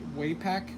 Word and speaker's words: Wapak: Um for me it's Wapak or some other people I've heard them say uh what way way pack way pack? For me it's Wapak, but if I'm mispronouncing it, let me know, guys.